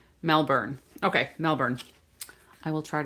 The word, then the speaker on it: Melbourne: but not born like the born identity movies or something. Melbourne.